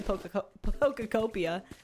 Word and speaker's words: Pokopia: with- I have to play pokopia. Yeah, That's the new one. Pokopia. Why do you always add an extra syllable?